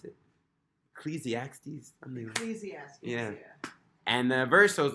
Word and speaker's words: Ecclesiastes: In, how do you pronounce it? Ecclesiastes? Ecclesiastes, yeah.